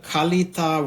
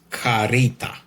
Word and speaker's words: Kalita: fast is using the Kalita Wave Dripper, Kalita with K, 155 glass series for 1 or 2 persons. In Amazon review, they say Japan import by Kalita, in brackets Karita, the way Japanese pronounce.